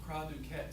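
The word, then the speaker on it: cri du chat: causes a problem called cry do cat it's spelled chat but it's called C do cat syndrome Kat syndrome is a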